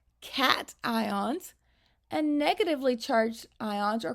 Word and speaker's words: cation: Positively charged ions are called cations, and negatively charged ions are called anions. Those words are pronounced a little bit differently from how they look like they would be. A cation and an anion.